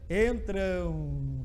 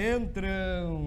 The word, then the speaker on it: entram: bem devagar vai perceber entram têm um som de 11 no final então vejam esse aqui faz ram é assim entram é um ato com